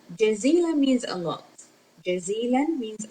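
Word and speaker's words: جزيلًا: We add noon because we have two fatha.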